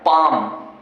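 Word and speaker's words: palm: का उच्चारण नहीं होता जब एल के बाद एम आता है तो एल का उच्चारण नहीं होता है देखो पैम और का है कम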